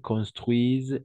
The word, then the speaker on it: construisent: Jamais on va prononcer ENT à la fin, jamais. Phil et Eric construisent une maison.